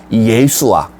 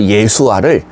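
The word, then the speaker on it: ישוע: 중에 하나였습니다 예수 어 이건 우리가 발음을 예수로 발음하는 거고요 사실이 이름은 히브리어 예수아 히브리어 예수아 그리스어 헬라어로 음치에서 우리에게 넘어오면서 우리가 예수 이렇게 부르게 된 것뿐입니다 히브리어로 예수아 하면 왠지 이름이 좀 귀에 익숙하지 않으십니까네 우리가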